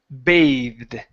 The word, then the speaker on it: bathed: to be the verb bathed so this is going to be a long a sound so when you see for